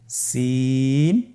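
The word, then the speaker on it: سين: বাকি দুইটি হরফ নাম হল সিন এবংশিন। সিন এবংশিন। সিন হরফটি উচ্চারণ ক্ষেত্রে অবশ্যই তিন আলিফ টেনে পড়তে হবে। সিন হরফটি বারিক হরফ পাতলা করে উচ্চারণ করতে হবে।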